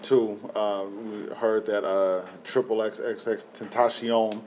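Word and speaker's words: XXXTentacion: So one thing that happened too, we heard that XXX Tentacion. No, his name is not Triple. It's Tentacion. Triple X.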